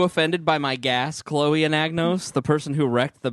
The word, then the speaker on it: Anagnos: You don't pronounce the G. What's wrong with you? So it's Anagnos.